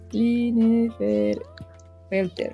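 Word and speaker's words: Klinefelter: Clean Felter. Clean Felter. Ah, es Clean Felter.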